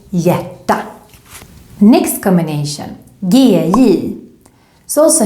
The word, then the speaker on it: hjärta: Other examples with HJ, hjärta, heart. Also here, the H is there, but it's silent. So you should just think hjärta.